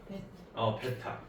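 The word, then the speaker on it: β: 요거는요? 베타. AB라고 읽으시면 안 됩니다. 네. 알파 베타예요.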